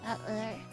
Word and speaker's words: Battler: Japanese characters is made up of the characters for fight and person, and it's pronounced Battler.